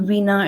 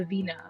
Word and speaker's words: veena: a little bit more about it's the the veena or is that the right way to pronounce it yes it's veena correct so uh so veena it's a codophone instrument from india so it's